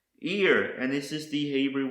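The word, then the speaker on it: עיר: The next word I want to show you is pronounced ear, and this is the Hebrew word for city or town.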